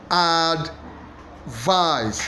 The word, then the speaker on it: advice: teacher the answer is a add vice vice vice is the one that is hugely stressed let me I I